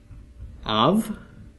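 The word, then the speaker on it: אב: comets makes an oo bait with no doggish makes a V of okay Bob and of means father how fitting for the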